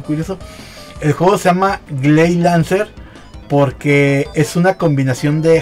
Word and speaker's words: Gley Lancer: inglés porque en realidad se cambió la l de gley era Grey porque era este Grey Lancer entonces pero como la pronunciación japonesa es gay se quedó así ley 11 Entonces está